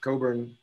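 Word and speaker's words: Cockburn: but not everybody knows it's pronounced coburn with a silent ck that's a scottish name and we've got scott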